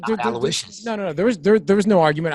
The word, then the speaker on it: Aloysius: But regardless, that's the correct pronunciation. So his name is Aloysius?